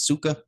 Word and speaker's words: Tsuka: Not sure how to say this one. I say it's Suka, okay?